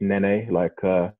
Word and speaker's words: Nnene: Surname is pronounced Nnene, I think everybody knows the popular Silento song, Watch Me Whip, Watch Me Nnene. So if you, just refer to that in terms of pronunciation.